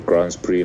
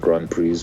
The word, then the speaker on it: Grands Prix: Because that's how it's pronounced, by the way, Grands Prix, not Grand Prix.